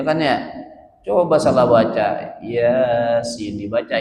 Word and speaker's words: Yasin: Kalau Yasin a-nya ada dua ya kan ya. Coba salah baca Yasin dibaca ya asin.